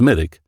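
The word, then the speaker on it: Smithwick: Brewing in 1710 John smithick pronounced smittic established a brewery at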